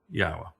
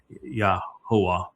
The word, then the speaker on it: Yahweh: It's YAHOWAH in this song, and that is incorrect because the yod makes an E sound in English as it does in Hebrew, and the ah sound is from the hey.